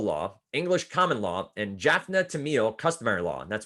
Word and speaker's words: Jaffna: Roman Dutch civil law, English common law, and Jaffa Tamil customary law. Roman Dutch civil law, English common law, and Jaffna Tamil customary law.